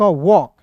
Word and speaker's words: walk: के है एक साथ, तो एक साथ जब एल के रहेगा ना, तो एल को हम लोग साइलेंट करेंगे। क्लियर है? और देखिए ए का उच्चारण औ के रूप में करेंगे, तो W का व हो जाएगा, ए का उच्चारण औ के रूप में, के का हो जाएगा क, वॉक। क्लियर है? इसे वॉल्क नहीं पढ़ेंगे।